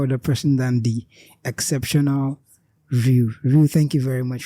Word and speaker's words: Rue: Ru. It's Ru, like Aruyu. The E is not like.